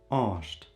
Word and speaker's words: osht: ajo, he, she, is osht. Some people in the dialect write it with an A, some with an O, this depends. Osht is the pronunciation.